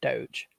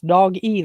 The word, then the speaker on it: Dogecoin: and I said well it's very simple to me it's dog e like dog uh electronic but they call it dcoin and it's uh up